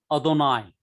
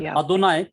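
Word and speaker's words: אדני: This is Adonai. So that actually it is not Adonai. No. It is a very short sound.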